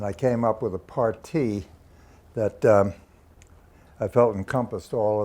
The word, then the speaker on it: parti: came up with a partie that I felt encompassed all of the aspects of the program. A partie, spelled P-A-R-T-I, but pronounced partie.